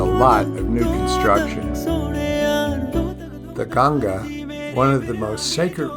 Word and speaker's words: Ganga: from the ashram to Ganges for Ganga as it is pronounced in India there was a short